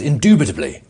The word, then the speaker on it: indubitably: I think we say undeniably or undoubtedly because we can't pronounce it properly. Intuitively. Indubitably. Indubitably. Oh, you there's a little B in there.